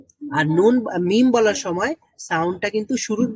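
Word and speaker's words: م: তো বাটা হলো ঠোঁট খোলার সাথে সাথে সাউন্ড বের হয়, আর মিম হচ্ছে ঠোঁট খোলার আগে থেকেই সাউন্ড প্রডিউস হয়।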